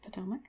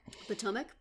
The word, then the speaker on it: Potomac: Probably pronouncing the name of that street wrong, but... No, I think that's how you say it, Potomac. Potomac, okay.